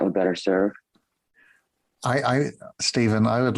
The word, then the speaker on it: Stephen: my dear brother my is Stephen is the correct pronunciation my first name and sharing about this